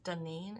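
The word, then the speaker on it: Daynene: In 1974, Ronald O'Brien was 30 years old, and he was married to, I'm gonna say her name is Danine. It's spelled D-A-Y-N-E-N-E. So I'm gonna assume that's what it is.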